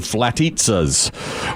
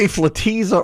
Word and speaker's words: Flatizza: italian or veggie flatissa should that be flatisa or flatisa i think it's you tell me i think it should be flatitsa because it but it's spelled like pizza we don't say pizza but i said it's like pizza but when i said flatisa